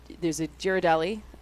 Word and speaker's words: Ghirardelli: There's a Ghirardelli.